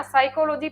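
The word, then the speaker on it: psychology: हो जाता है ना साइकोलॉजी पी से स्टार्ट होती पर पी को साइकोलॉजी थोड़ी बोलते हैं पी को साइलेंट कर देना वैसे ही यहां पर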